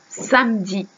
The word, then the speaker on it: samedi: me dit ici généralement les français ne prononce pas le e donc on dit directement samedi samedi et dimanche 10 manches